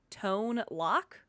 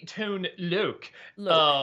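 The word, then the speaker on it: Tone Lōc: name of rapper actor tone lock uh it's actually tone Luke very we go and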